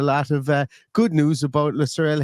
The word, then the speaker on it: Lutsharel: But yeah, so his name is pronounced Lutsharel Geertruida, and it might be really hard to